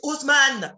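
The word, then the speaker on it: Haussmann: Porque en francés es Usman. De hecho, Usman. Ni siquiera pronuncian la H al principio.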